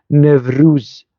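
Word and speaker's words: Nevruz: تركي وصار يسمى يسمى يسمى نفروز يعني بقلب الواو او الدبليو الى في وهذا معتمد في اللغه التركيه لانه يلفظون يعني لا يقولون وطان يقولون فاتان فاليت يعني بهكذا ينطقون الدبليو او حرف الوا يعني وبالتالي فليقولوا ما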